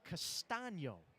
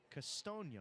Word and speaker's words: Castano: saying the name wrong it is castano not Casto so I beg your